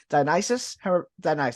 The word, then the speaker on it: Dionysus: Dionysus.